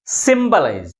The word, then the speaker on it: symbolize: 3 syllables. And also this word ends with IZE suffix. That's why the primary stress is on the third syllable from the last.